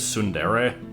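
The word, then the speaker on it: tsundere: Uh, I think you pronounce it as sundere.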